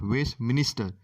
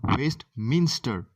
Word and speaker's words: Westminster: is upon westminster bridge don't mispronounce it is not waste minister it's called best minster so upon waste mr